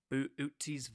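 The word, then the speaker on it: Boötes: boo boo tees void it almost looks like it's spelled like boots but booties void that is about 1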